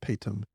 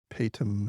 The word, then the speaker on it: Paytm: India called pum mall I think it's called pum or pronounced pum P Y TM and very recently a